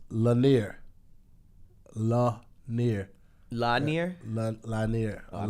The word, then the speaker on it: Lanier: And they say it's pronounced Lanier.